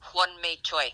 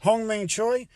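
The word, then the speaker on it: Hyun-mi Choi: Hwang-mi Choi. Hwang-mi Choi.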